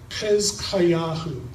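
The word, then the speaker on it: חזקיהו: Hezkayahu, Hezekiah, that's the Hebrew pronunciation.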